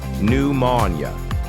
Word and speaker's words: pneumonia: important words where the P is a silent ghost letter. First, the medical term pneumonia. This is a serious lung infection. We say pneumonia.